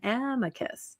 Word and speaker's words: amicus: is the Latin, but according to ChatGPT, it says the emphasis is on the first syllable and amicus.